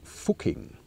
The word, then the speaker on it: Fucking: Another famous example is the Austrian village Fucking. I pronounce it the German way, so I don't have to beep it out.